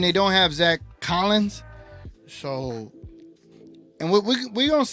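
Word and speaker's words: Sochan: too Nick says uh I think it's pronounce soan okay so Jeremy soan Jeremy soan uhoh Maverick's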